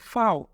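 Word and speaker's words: Vau: টিটাকে আমরা ডয়েচে বলবো টে টে, ট্রিক ট্রিক টে, ইউটা হয়ে যাবে উ, এবং ভি হয়ে যাবে ফাও ফাও, এবং ডাব্লিউ হয়ে যাবে ভে, উ ফাও ভে ইক্স।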